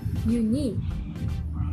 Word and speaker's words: unique: But in the second syllable, unique, unique.